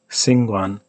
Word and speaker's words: 𐍃𐌹𐌲𐌲𐍅𐌰𐌽: So if I, correct my pronunciation, so to speak, and pronounce it less wrong by not retracting it, I might say Singwan, Singwan, and I know that I'm pronouncing it somewhere here, somewhere within those three. But can I pronounce it here? So see this. This is my recommendation for how you pronounce it.